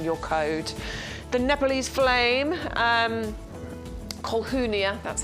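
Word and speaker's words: Colquhounia: The Nepalese Flame, Colhunia, that's how you say it, by the way. Colhunia, the Nepalese Flame, 3 9cm pots here.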